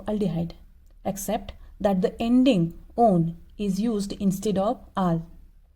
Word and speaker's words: -one: corresponding alkane name to -one. Now student, in this O and E, this ending, it is always pronounced as -one and not as a one.